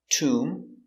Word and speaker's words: tomb: end when you have MB at the end the B is always silent and in this video